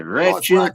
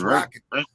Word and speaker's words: Rakic: They say Ratchet. They say fucking it's Rakic. It's Rakic. Rakic. John McCarthy. If John McCarthy says the name right, I know it's right. So he made the rules. Rakic.